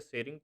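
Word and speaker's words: Tshering: इसके अलावा जो भूटान के प्रधानमंत्री हैं, prime minister of Bhutan तेंजिंग सेरिंग तोबग, ये टी एस जो है यहाँ पे टी साइलेंट है, सेरिंग तोबंग यहाँ पे चीफ गेस्ट होंगे।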